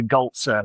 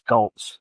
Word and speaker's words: Golze: The uh sort of pronounce the e on everything on the end. Yeah. The end of a word or a letter. So it would be ger but yeah it's it's gouls.